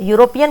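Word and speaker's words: European: तो यूरोपियन का प्रोनाउंसिएशन य है।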